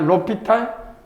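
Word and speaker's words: L'Hôpital: 로피타 뭐 묵음이야. 그래서 무금에서 그냥 LH LH라고 해. LH 뭐냐? 로피탈 성지 로피탈 좀 있다 쓰겠지만요.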